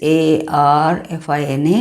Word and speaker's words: Arfina: Spelling is a r f i n a, but you pronounce it as Arfina boards.